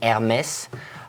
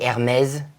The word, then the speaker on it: Hermès: On this one, in the French language, as you can see here, you have an accent on the E, on the letter E, which gives that intonation at the end, Hermès. Don't say Hermès. You don't have a Z. There's no Z at the end.